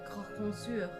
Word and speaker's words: croque monsieur: Yeah, croque monsieur. Croque monsieur. It's a hot sandwich. Cheese, ham, a little bechamel. Throw on some peppers if it's a Friday night. No, croque monsieur.